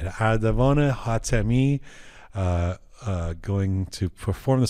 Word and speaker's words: Ardavan: My name is Ardavan. In Turkey, they say Ardogan. I say, like, dude, you messed up.